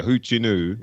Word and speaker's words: Hoochinoo: He says, so I guess this is how you'd say, that's how it's spelled, Hoochinoo, but yeah, Hoochinoo is how you'd say it.